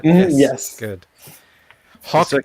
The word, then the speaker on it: Haack: HAACK is Bach. Like a W. It's not hack is back.